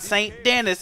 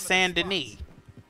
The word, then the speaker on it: Saint Denis: It's not St. Denis, it's Saint Denis.